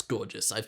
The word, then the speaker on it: Gorgias: Or maybe like, no, it's Gorgias. I saw them pronounce it.